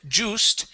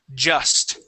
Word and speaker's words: just: to the word just instead of saying juice it is J just just good one more time